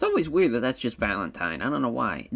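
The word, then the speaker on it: Valentijn: But because I always want to say Valentine over him, but it is just pronounced Valentine.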